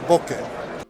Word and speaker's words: bokeh: reference for many people on how to correctly pronounce the Japanese term bokeh. bokeh. Bo, that's gonna be bokeh.